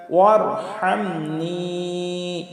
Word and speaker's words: وارحمني: মাগফিরাতাম মিন ইনদিকা ওয়ারহামনি, আমরা এখানে বড় হা আছে, হলকের মধ্যখান থেকে উচ্চারিত হবে ওয়ারহামনি, ওয়ারহামনি, নুনিয়াজের নি, এখানে 3 আলিফ টান, ওয়ারহামনি।